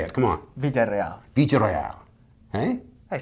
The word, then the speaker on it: Villereal: Villereal.